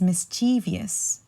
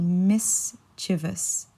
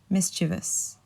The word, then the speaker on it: mischievous: is mischievous and usually I hear this being pronounced as mischievous so many people say it's mischievous just because of the way it's spelled but it's actually mischievous mischievous so the the meaning behind mischievous would be